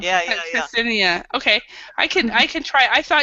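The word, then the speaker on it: Ksenia: but it's very difficult for English person pronounce it To because pronounce it. it's KS. Yes. Yeah. Ksinia.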